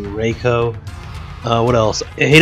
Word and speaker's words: Reiko: REO as a character I hate raicho because I can't say his name right it's technically Reiko uh what else I